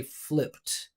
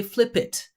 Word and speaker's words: flipped: So, we're just going to say flipped. Don't say flip it. Flip it. We do not add extra syllables. Just flipped.